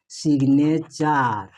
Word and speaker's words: signature: এখন দেখেন SIGN সাইন পড়বেন না, এখানে হবে জিব প্লাস নে প্লাস চার।